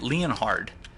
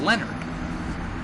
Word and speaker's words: Leonhard: That's a, Dezo Penguin said, because I was pronouncing it Leonhard, but Dezo Penguin said that it's actually pronounced Leonard.